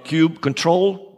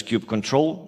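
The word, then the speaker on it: kubectl: is it kubernetes pirate if you see a cube control or there are different ways of pronouncing it I use cube control but that's the one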